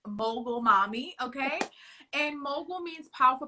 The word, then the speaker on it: Mogul Mommy: called mogul mommy and so many people have a problem pronouncing that guys it's mogul mommy okay and mogul means